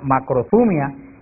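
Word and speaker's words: μακροθυμία: Hay otra palabra griega que se pronuncia macrothumia, que también se usa para paciencia, y son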